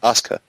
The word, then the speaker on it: Asuka: Champa match number four how do you pronounce this ASA ASA I keep think it's auka it's like it's like shinsuke Nakamura you just don't say the you just Asuka Asuka versus Dana Brook